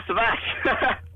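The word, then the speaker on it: Savaş: It's a Turkish spelling.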